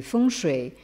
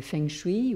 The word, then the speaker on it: feng shui: tous entendu parler aussi du fond chai que probablement vous avez plutôt entendu prononcer feng shui ou quelque chose comme ça qui est donc le